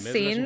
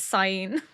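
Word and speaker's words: Sein: It's not Scene, it's Sign.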